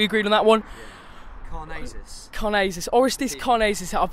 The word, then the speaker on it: Orestis Karnezis: Orestis Karnezis. I've pronounced it right for once.